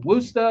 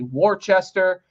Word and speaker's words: Worcester: They were in Worcester, or phonetically Worcester.